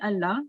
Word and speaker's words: Allah: the name of allah the name in allah will be pronounced thick so this is a